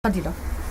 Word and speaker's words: Fadila: Fadila. Fadila. Oui. Ça s'écrit F-A-D-I.